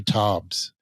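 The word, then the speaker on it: Taubes: about it it's by this author named Gary Tobbs it's spelled t-a-u-b-e-s he's a scientific writer for the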